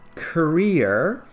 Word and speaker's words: career: paths suit them now the word career has the stress on the second part career career paths youngsters